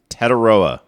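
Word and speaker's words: Tetairoa: Teteroa, right? Mhm. That's how it's pronounced.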